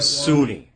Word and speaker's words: Kasuni: Cassoni. Cassoni, is that how you pronounce that one? Kasuni. Kasuni, okay. Russian.